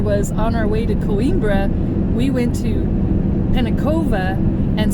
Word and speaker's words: Coimbra: We just left Coimbra.